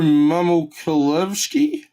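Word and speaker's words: Mamukelashvili: pistons there we go that's cool and sandro mama kolevsky yep that's right that's exactly how you pronounce his name for the box let's carry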